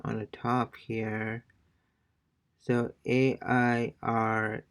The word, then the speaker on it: aire: Okay, so basically, AI sounds it's pronounced like the English word I.